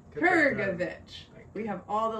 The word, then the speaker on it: Krgovich: Krgovich. Get that G in there. Krgovich.